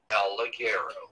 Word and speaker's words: El Ligero: El Ligero. There you go. There you go, Jamie. He was waiting for the correct pronunciation of El Ligero.